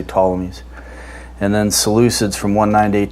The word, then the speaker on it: Ptolemies: Actually, it's pronounced Ptolemies, if I do it according to the Greek, but we just say Ptolemies.